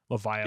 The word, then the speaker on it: Levia: Levia, like Leviathan. Leviathan. That's how I pronounce it now.